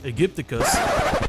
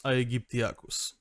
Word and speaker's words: aegyptiacus: The theropod known by its real name, Spinosaurus aegypticus... Okay, can someone stop this idiot from butchering any more Latin pronunciations? It's Spinosaurus aquareliga and Spinosaurus aegyptiacus.